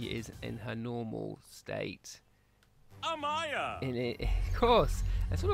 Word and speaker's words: Amaya: So if we pop over, let's have a look at Amea first. Amaya. Oh, I should say Amaya.